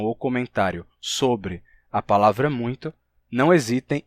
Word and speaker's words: muito: Por que se pronuncia muito e não muito?